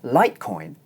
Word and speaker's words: Litecoin: In 'litecoin' the diphthong is followed by an unvoiced consonant sound, the sound /t/, and so it's pronounced short.